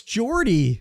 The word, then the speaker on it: Jordie: No, it's Jordy.